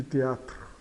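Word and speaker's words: théâtre: Então, teatro e e final é mudo. O e final aqui é mudo de de teatro.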